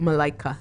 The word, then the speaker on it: Malaika: and you know what I called him Malika for the longest time and then when I lived in the Middle East it's actually Malaika so I took that I actually took that pronunciation but whatever no that's